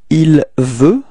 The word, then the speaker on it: il veut: Il veut. Repeat. Il veux. Okay, so you can see that final T is not pronounced, so it's actually the same pronunciation as we had for je and tu.